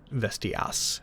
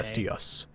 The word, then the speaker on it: Vestias: For clarity, people, it's an A at the end. Vestias, not You're an A. Vestius.